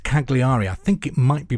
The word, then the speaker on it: Cagliari: It's spelt Cagliari.